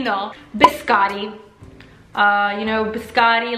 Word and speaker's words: biscotti: Pucci cookies cat can coochie and the Scott biscotti is the correct pronunciation because there are those two teas biscotti